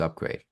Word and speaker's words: UPGRD: simplest way to explain what we do is upgrade so I I I got a register trademark Mark in and you know in in this terminology and what it is is um and it's spelled different it's upgrd and because we believe